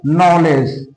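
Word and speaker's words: knowledge: তাহলে বন্ধুরা বুঝতে পারছ যে ডি এর পরে যদি যে থাকে অথবা ডি এর পরে যদি জি থাকে তাহলে আমরা ডি এর উচ্চারণ করবো না।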